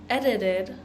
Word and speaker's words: edited: a name edited but we're going to pronounce that t as that like the sound edit eded edited it sounds like we're just